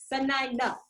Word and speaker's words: Sanina: And for those who want to learn how to say her name, it's so, the number 9 and the A. Sanina.